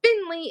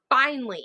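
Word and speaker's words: Finnley: Oh my goodness, I drove one of my critique partners crazy because it's Finley with two N's. I think that makes sense. It's Finley. It's not Finally.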